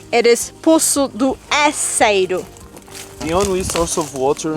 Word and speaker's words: Poço do Enseiro: It is Poço do Enseiro.